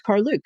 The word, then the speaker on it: Karluk: expedition, like that's how we know how to pronounce Caruke because that's how he pronounced it um, in the TV interviews that he gave.